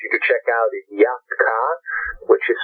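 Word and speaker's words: Yat-Kha: And the other great artist I would urge you to check out is Yatka, which is spelled YAT, and is a solo singer that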